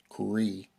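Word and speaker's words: Cr'ee: also comes with Cho's pet Cree I believe that's how it's pronounced CR apostrophe EE so yeah anyhow this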